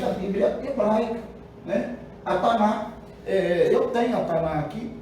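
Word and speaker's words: Tanakh: Que dá Taná, né? Taná, tá? Sem a pronúncia do K, não existe, tá?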